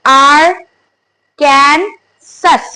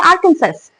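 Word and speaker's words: Arkansas: good can जस नाउ the next one इज आर कैन सस many of द guy will say आर्कन सस जिसको पता नहीं होगा guys pronounce करेंगे आर्कंस how ever दैट्ची एस it will be डब्लू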